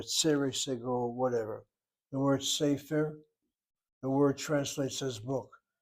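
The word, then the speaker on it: סֵפֶר: Well, most probably you'll accent the last syllable, sefer. Actually, people don't say sefer. They say sefer. They hit that first syllable.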